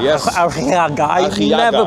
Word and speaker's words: Arriaga: Is that what Arriaga, it's called? Yes. Arriaga. I never pronounce it correctly. You can say Arriaga.